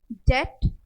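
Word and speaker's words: debt: फिर डम, डेट, देखिए बी बीच में आया है, साइलेंट है, DET, हम इसको सिर्फ इतना प्रोनाउंस कर रहे हैं, DET, डेट।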